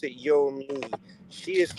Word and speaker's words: Yomy: It's pronounced Yo Me. However, right, It's Yo she Me with don't a like Y? when you say Yo Me. Yes. Mm-hmm. How was it spelled? YOMY. I thought it was Yo Ma. You know people That's are how it's spelled.